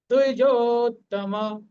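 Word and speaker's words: দ্বিজোত্তম: সংক্ষিপ্ত মেন উচ্চারণ হচ্ছে দুইজতমা দুই হাফ পূর্ণ দশাকার দজতমা ভেঙ্গেও বললেও আমাদের সমস্যা নেই ওটাও সঠিক উচ্চারণ নায়কা সস নায়কা নায়কা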